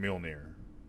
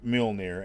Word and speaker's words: Mjolnir: I suppose it's probably not always pronounced the way I pronounce. I pronounce it Mjolnir. I don't know how it's actually pronounced. That's how I pronounce it. Neither do I. It always sounds funny to me because it sounds like I'm saying mule, like mule. Near.